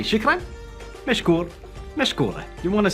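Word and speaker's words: شكرا: It is shukran.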